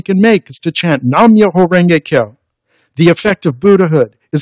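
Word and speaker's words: Nam-myoho-renge-kyo: Each musical note shown here represents one beat or syllable. So the chant sounds like this. Nam-myoho Renge-kyo, Nam-myoho Renge-kyo, Nam-myoho Renge-kyo.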